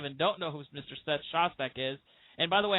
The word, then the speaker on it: Seth Shostak: seth shostack is and by the way I am pronouncing your name correctly right it is seth shostack you do better than I do Emmy oh